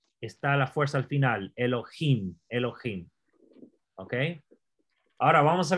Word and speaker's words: Elohim: y aquí aquí está es la sílaba donde quiere llevar el acento elohim porque es vocal larga este vamos a hablar